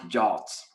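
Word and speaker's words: JWT: exposing uh jobs and i say josh now i mean json web tokens but uh pronounced jolts uh and another problem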